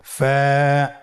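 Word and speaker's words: ف: ফা কফ কাফ লাম মিম নুন ওয়াও হা হামজা ইয়া। ফা হরফটি আপনারা স্ক্রিনে দেখতে পাচ্ছেন। ফা হরফটি উচ্চারণের ক্ষেত্রে বারিক হবে এবং এক আলিফ টেনে পড়তে হবে।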